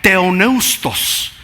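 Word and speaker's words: θεόπνευστος: Y esa palabra en el idioma original se pronuncia teoneustos. Es lo que nosotros traducimos inspirada, teonustos.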